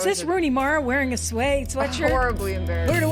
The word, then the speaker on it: Suay: You can say it a million different ways, but technically it's Suay Sew Shop.